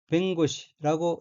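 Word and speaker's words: 弁護士: 곡갈변 도울호 선비사 짜이고 일본어로는 는 뱅구시라고 읽으며 뱅고시는 변호사라는 뜻입니다.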